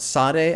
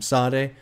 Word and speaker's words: Sade: in the comments about Sade I think that's how you pronounce that artist's name Sade got to get into